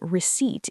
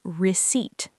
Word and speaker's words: receipt: The letter P in receipt is completely silent. We do not say receipt. We say receipt.